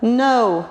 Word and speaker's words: know: Know, knew, known. You know that. Again, three, yeah. Very good. K is silent. You don't need to pronounce it.